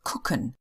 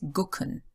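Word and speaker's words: gucken: the strange thing is it's usually spelled with a G but it is like the k sound so it's cooken nobody says gken it's always cooken so when we have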